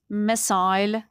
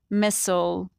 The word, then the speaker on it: missile: In British English, missile. In American English, missile.